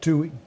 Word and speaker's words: Tuohy: The Tuohys, is that how you pronounce their name? Tui.